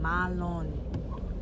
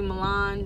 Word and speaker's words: Malon: My name is Malon. That is my name. Malon. Malon. It's French. So y'all keep calling me Milan. Just know you're not saying it right. Milan is the American way. The real name is Malon. Malon.